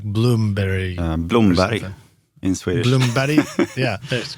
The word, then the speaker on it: Blomberg: Actually, kind of reads to me like Blamberg, but but you said you pronounce it more like Bloomberg. Bloomberry in Swedish.